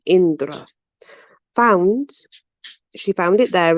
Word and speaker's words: Indra: god idra indra oh now there's two ways of pronouncing this and i think it's from different parts we have idra or indra i pronounce it indra found she found it